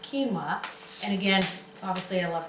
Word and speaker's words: quinoa: You know, it's funny, it doesn't look like that, but it's pronounced quinoa.